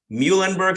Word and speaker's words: Muhlenberg: did you get to your undergrad program at Muhlenberg school did I pronounce that correct correctly you got it you